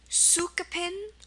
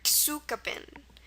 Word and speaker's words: tsukupin: It's TSUKUPIN, and this one is Sukapin or Tsukapin. So 2 ways to pronounce it.